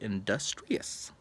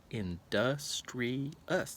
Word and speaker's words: industrious: Wow, they sound very industrious. That's a big word. Industrious. That's 4 syllables.